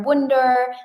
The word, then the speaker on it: Wunder: So just type my name correctly, spell it right. S A M I W u N D E R Wonder Wonder.